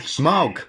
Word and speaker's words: Smaug: I'm saying Smaug. I couldn't be any clearer. Like the word? Like a smug look? Smaug. Smaug.